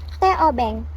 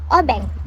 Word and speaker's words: obeng: The name obeng comes from the all pronunciation teh openg influenced by Chinese culture. Peng time local people here pronounce it as obeng.